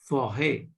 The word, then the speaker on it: forêt: And thus this word become forêt. Forêt. Forêt. Okay. So this accent is pronounced as a. Not a, not a. Okay. Forêt. It goes up and down, comes down, sounds like that.